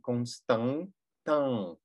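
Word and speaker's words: Constantin: Кон, там, потому что у нас ОН, Констан, АН, Констан, Тан, на конце ИН. Произносим улыбкой. А, и получается Константан.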